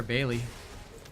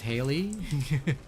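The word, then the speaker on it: Hailey: out sorry about that why you calling her Bailey her name is Haley like bruh pronounce her name man I mean for me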